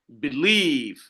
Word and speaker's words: believe: Par exemple, I said believe, believe. Là, on ne tire pas sur le B, mais on tire sur le livre.